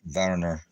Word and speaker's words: Werner: born in Switzerland swiland verer with a W Varner um not too many people pronounce it correctly but that is Warner with